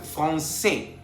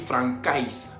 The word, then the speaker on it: français: C avec cédille tiene la pronunciación S. Por ejemplo, français, para no decir francais.